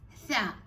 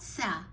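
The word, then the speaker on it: ث: It's tha, not sa. Sa is stronger than tha.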